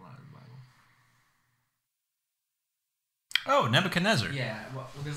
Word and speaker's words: Nebuchadnezzar: Oh, Nebuchadnezzar.